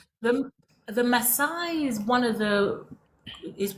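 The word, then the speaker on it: Maasai: So, in the tribe specifically, is it pronounced Masai? Yeah, Masai.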